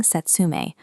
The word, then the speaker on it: setsumei: When pronouncing setsumei, hold the long A sound at the end.